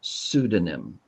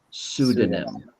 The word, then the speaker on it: pseudonym: Raison, when you have a word that starts PS, the P is silent. So this word is just pronounced pseudonym. Pseudonym.